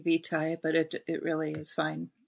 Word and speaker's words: Vitae: You know, where did Ars Vitae begin? And am I pronouncing it right? Yeah, you can pronounce it that way. I say Vitae, but it really is fine.